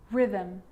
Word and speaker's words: rhythm: a g ghost ghost and with an r rhythm or rhyme good news the i is not usually silent it's usually pronounced except in the word business okay k